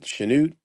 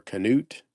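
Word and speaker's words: Chanute: Is it Shenoot or Canoot? I think it's Shenoot. Probably Shenute.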